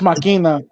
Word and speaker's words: Machina: It's pronounced Machina.